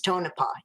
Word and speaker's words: Tonopah: Okay, but before I do that, I don't want to forget you did pronounce Tonopah correctly it is Tonopah.